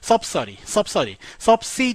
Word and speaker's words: subsidy: 자, subsidy에 가깝게 읽어주시면 돼요. subsidy 너무 이렇게 딱딱하게 읽지 마시고요. subsidy라고 읽어주시고요.